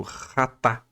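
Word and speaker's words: חטאת: destacamos o substantivo hebraico rata se escreve com ch mas se lê com som de rr Ah tá cuja raiz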